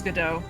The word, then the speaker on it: Godot: but Isn't I'm talking- is it not pronounced Godot? Because French? It is Godot.